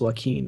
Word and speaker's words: Joaquin: strange to me because I pronounce it Josh joacquin haha I remember making phone calls and then I had to pronounce this name who knows it's like what is this and someone's like oh that's what keen I'm like really like